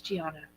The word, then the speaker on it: Gianna: It's not Gia. It's Gianna. Yeah, good call.